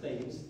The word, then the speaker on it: Thames: It looks like it should be pronounced Thames.